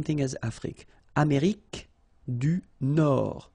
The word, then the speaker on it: Nord: Amérique du Nord. Final D not pronounced. L'Amérique du Nord.